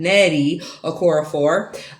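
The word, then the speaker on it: Nnedi Okorafor: Death of the Author by Nettie, because I mispronounced her name last time, Nettie Okorafor.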